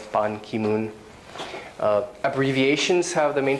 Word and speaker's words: Ban Ki-moon: uh hillary clinton um names have the family name stressed so family name if it's first like pon ki-moon the family name is dress ban ki-moon abbreviations have the main